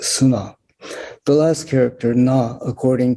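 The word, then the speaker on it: 砂: means sand and by itself is made is pronounced sunnah the last character na according to reverend furumoto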